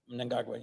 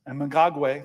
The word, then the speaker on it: Mnangagwa: And you always correct me on my pronunciation, so I'm going to try my best. Mnangagwa. Mnangagwa, yes. Mnangagwa, thank you, sir.